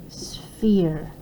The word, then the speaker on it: sphere: And we pronounce it S-F-E-R, sphere.